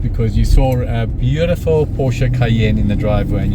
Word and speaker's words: Porsche: We know it as Porsche in South Africa. We refer to it as a Porsche Center. But the correct pronunciation is Porsche.